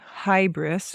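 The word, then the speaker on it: hybris: One other story we'll talk about which involves the idea of what the Greeks called hybrris or hubris. Sometimes it's pronounced either way.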